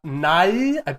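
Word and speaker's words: Nighy: that is uh uh bill not nye i i think i'm hoping i'm pronouncing that because it's the uh n-i-g-h-y but yes it is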